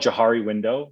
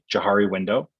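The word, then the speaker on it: Johari window: eyes so there's something called jahari window you spell it like it sounds j-a-h-a-r-i jahari window so it's just a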